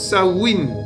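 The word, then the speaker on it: Samhain: Ce motic se prononce sa win.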